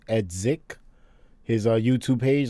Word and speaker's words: Edzik: look we're at uh eds or edsic it's pronounced edsic his youtube page like